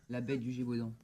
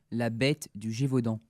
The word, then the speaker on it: La bête du Gévaudan: La bête du Gévaudan. What's that? La bête du Gévaudan.